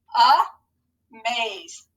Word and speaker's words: amaze: be our schwa and it's going to say uh so ready i'm going to scoop it and let's read it all together a maze amaze good you guys